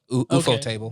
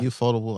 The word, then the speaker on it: Ufotable: UFO okay, table. That makes sense. Yeah. Ufotable.